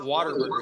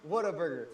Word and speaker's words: Whataburger: No, you said it wrong, man. No, it's not Waterburger. It's Whataburger. It's Waterburger.